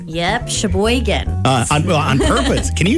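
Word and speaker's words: Sheboygan: Shboan. Uh on purpose. Can you even spell that? Shboan.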